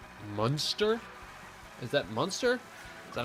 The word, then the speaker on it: Munster: Yes, Munster is how you say it?